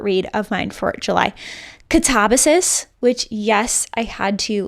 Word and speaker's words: Katabasis: Katabasis, which, yes, I had to listen to a